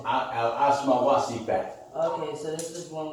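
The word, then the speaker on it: Asma wa Sifat: I did it like that so you better know how to pronounce it. Oh. It's Asma Wasifat.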